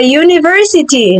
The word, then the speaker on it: university: Tetapi pas kita pronounce this word kita bilang kata ini university. University. Y h y. Jadi bunyi pertamanya hi ya kan. Ah, bacanya ini y University. Oke, makannya a university bukan an university but a y university.